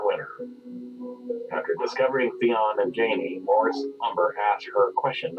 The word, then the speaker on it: Jaime: Jaime, it rhymes with pain.